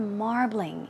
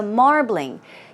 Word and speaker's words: marbling: But also we're talking about the marbling in like steaks, meat, right? So marbling. Keep in mind, it's two syllables. It's not marbling, it's marbling, marbling.